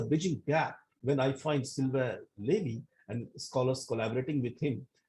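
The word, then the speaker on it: Sylvain Lévi: How to correct pronunciation? What is Sylvain Levy or Silva Levy? No, it is Sylvain Silva Levy. Sylvain Levy.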